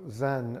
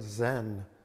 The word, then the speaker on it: Zen: that's what the word zen means it's the japanese pronunciation of the sanskrit where uh jiana d-h-y-n-a and uh koreans are pronounced uh son and they're following you know the chinese pronunciation both of them but